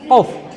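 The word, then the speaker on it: ق: Ah, jadi ngomongnya teman-teman qf. Qf harus harus dirasain di di pangkal lidah kalian tuh qf.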